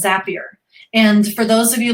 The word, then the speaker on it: Zapier: do is i go to the zapier website z-a-p-i-e-r is how you spell it um i go to the zapier website